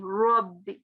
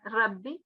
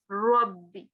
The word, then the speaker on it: ربي: So it will be Rabbi, not Rabbi, but Rabbi, Rabbikuma. Here as well, Rabbul Mashri. Yeah, so make it more like rounding.